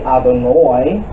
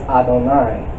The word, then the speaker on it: Adonai: So, for instance, you'll see also, for instance, in the word Adonai, in Ashkenazi, you'll see Adonoi versus Adonai.